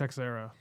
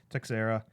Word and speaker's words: Teixeira: it's Texera. Teixeira I think so.